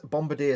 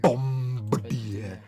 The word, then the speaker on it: Bombardier: Bombardier. Always sounds like it shouldn't pronounce the B in the middle.